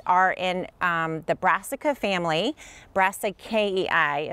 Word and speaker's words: Brassicaceae: Brassicaceae is how you say it if you speak Latin.